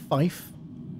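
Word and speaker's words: five: So in phonetics, which is the language you use over a radio, 3 is pronounced as tree, 5 is pronounced as fife, and 9 is pronounced as niner.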